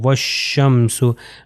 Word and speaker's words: والشمس: کے اوپر فتح ہو، تو یہ الف اور لام جو ہیں وہ یہ نہیں پڑھے جائیں گے، رادر کیا ہوگا، یہ واو جو ہے اگلے والے سے مل جائے گا۔ والشمس، ابھی ہم نے اپنے